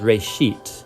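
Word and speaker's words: Bereshit: Genesis comes from a Hebrew word. Uh it's pronounced raetit. Uh and it just means beginning.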